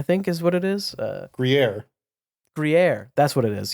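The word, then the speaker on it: Gruyère: So as far as a cheese rating, I'm gonna give it a how's this pronounced? Gruyere, I think is what it is. Gruyere.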